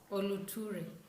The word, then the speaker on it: Ólótúré: Today we are reviewing Ólótúré. I hope I'm pronouncing it. Ólótúré.